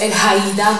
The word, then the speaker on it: Elhaida: So I'm Elhaida, or is right pronounced Elhaida, but it is going to take a lifetime to say it right, so Elhaida is good.